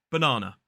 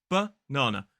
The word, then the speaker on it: banana: Banana. Two schwas in that word. Banana.